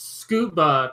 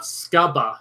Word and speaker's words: scuba: That's why I pronounce it that way. Okay, it's scuba, not scubba.